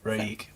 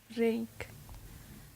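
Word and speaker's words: Reik: Raik, that's my favorite Spanish band. They're good. What is it? Raik, How do you spell that? R-E-I-K. Oh. Rake.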